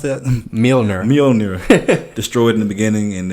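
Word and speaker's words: Mjölnir: How do you pronounce that? Mjolnir.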